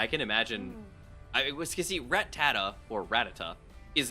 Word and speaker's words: Rattata: Yeah, people today call it Rattata, and I always called it Rattata because it's rat with a T, and then there's another T, A-T-A, so it's like Rat-tata.